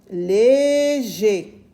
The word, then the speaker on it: léger: Je répète, ER à la fin d'un mot se lit également et. Léger.